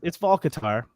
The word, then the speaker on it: Hvakaltar: Eric was like, "Yeah, it's Volcatar," and I was like, "Oh, okay, yeah." And I'm like, if you're gonna spell the name Hvakaltar, you're not really expecting people to pronounce it correctly.